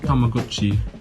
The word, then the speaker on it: Tamagotchi: Properly pronounced Tamagotchi, today the company continues its 90s trek with technology, adding infrared communication to newer models.